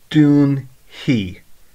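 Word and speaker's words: dúnfaidh: Dún hi. Now, you can pronounce it as a he or a fi. Most people would say he, so it's Dún hi.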